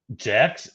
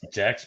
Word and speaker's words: Jack's: at what is it jax jack's pizza spell it j a s uh c k s oh jack i thought dude it sounds like you're saying jacks like j-e-x and then all folk